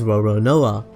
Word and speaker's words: Roronoa: French pirate franu Lun the Japanese pronunciation for Lun is roron NOA however zoro's first name